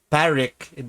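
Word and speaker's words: Pádraic: the regular Drake so Colin Farrell's character parrik that's how it's pronounced but it's spelled as the different and then um um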